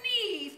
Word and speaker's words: Neve: Call her Neve because it rhymes with conceive.